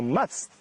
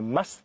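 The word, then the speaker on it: musth: Now, must, it depends on how you say it, M-U-S-T-H, is a condition that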